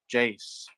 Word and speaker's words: Jace: thing that I get people saying my name wrong but it's actually pronounced Jace um oh okay oh